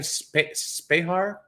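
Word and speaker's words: Spehar: Spahar?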